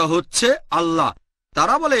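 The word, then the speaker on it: الله: এখন এটাই তাদের ভাষা একইভাবে আমরা জানি সঠিক উচ্চারণটা হচ্ছে আল্লাহ তারা বলে এলা আমরা বলি আল্লাহ সমস্যা নেই সঠিক উচ্চারণটা হচ্ছে আল্লাহ পরে বুঝলেন তিনি তিনি যেটা করেছেন তাতে কোরআনের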